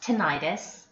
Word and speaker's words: tinnitus: complaints of vertigo or tinnitus you may also hear that pronounced tinnitus complaints of pain especially